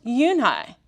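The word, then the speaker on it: Unhei: oh oh nee some kid janet no no uni corrected it's spelled u-n-h-e-i it's pronounced uni oh it's you who the boy said like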